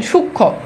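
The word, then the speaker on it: সূক্ষ্ম: অর্থাৎ যুক্ত ব্যঞ্জনের সাথে যদি আরেকটা মফালা যুক্ত হয় তাহলে তার উচ্চারণ হয় না। যেমন দেখেন সূক্ষ।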